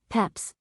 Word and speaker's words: Pepys: At present there are three pronunciations in use: Peps, which is the most usual, Pepys, which is the received one at Magdalene College, and Pepys, which I learn from Mr.